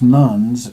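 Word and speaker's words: nones: group in the US labeled as nuns and we spell that n o NES like nun as opposed to the nun in the Catholic religion if those people were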